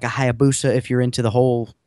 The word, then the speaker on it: Hayabusa: very expensive, very large V-twin or like a Hayabusa if you're into the whole crotch rocket thing. I just like the way you say it, Hayabusa.